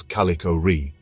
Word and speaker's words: Kallichore: the I officially named s203 j11 as calicho pronounced as calicor after a nymph from Greek mythology calicor in